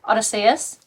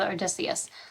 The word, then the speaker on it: Odysseus: I think it's Odysseus and Menelaus.